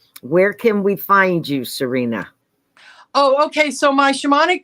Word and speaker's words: Sarina: that's interested um where can we find you Serena oh okay so my shamanic practice is um